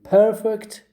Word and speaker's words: perfect: and it is perfect you see it's perfect perfect it is perfect it is perfect you you stress the first syllable you put a stress on the first syllable